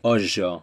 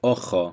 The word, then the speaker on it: ojo: So whenever you have a J, it's pronounced like the S in Asia or pleasure or measure. For example, hijo instead of hijo, ojo instead of ojo.